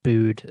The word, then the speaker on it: Buddh: with the Bood International Circuit. It's Buddh. Apparently, it's pronounced Bood. I didn't know if it's Bood or Buddha, or how that went.